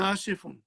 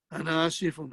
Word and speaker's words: Asif: He says, Ana asifun. Ana asifun, I am sorry. I am sorry. So be careful you pronounce properly. My name is not Asif. My name is Asif.